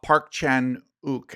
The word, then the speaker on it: Park Chan-wook: Yeah, Decision to Leave was the Park Chan-wook, I think is the way you pronounce his name.